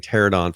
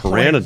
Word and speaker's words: pteranodon: you're getting your first, I got the proper pronunciation, it was a pteranodon. We've been saying pterodon for I don't know how long. When I looked it up, it's pteranodon. Wait, what? Really? Yeah, it's pteranodon.